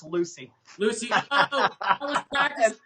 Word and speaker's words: Lewsey: It's pronounced like same as Lucy.